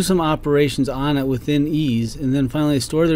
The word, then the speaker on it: EES: EES is pronounced ease and is an acronym for Engineering Equation Solver